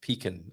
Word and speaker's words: pecan: You say it like pecan rather than pecan, I think, Mrs.